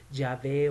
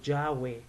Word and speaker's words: Yahvé: nombre de Dios es Yahvé o Yahweh, ya sea una V o una W.